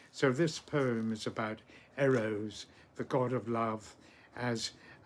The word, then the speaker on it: Eros: The Greeks of course pronounced him quite differently. Instead of saying Eros, they said Eros. The first syllable short, the second long.